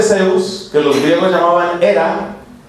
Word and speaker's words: Hera: Por eso la esposa de Zeus, que los griegos llamaban Hera, era la esposa. Esa Hera se escribe con H. Era, que era, la esposa, era también profundamente infeliz porque el esposo era muy mujeriego.